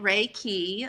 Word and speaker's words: Reiki: Reiki is, you say it Reiki. A lot of people have trouble pronouncing it, and that's okay.